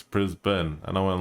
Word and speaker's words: Brisbane: You know, when I've been told off, it's like, it's not pronounced Brisbane, it's Brisbane.